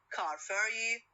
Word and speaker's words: car ferry: Two nouns, if the compound word consists of two nouns, so it normally has the stress on the first element.